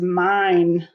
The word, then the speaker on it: mine: or that nut is mine m-i-n-e magic e makes the i say its name m-i-n-e mine now i'm